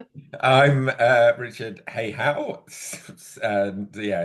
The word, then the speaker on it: Hayhow: I'm uh Richard Hihow and yeah, it's pronounced as it's spelled.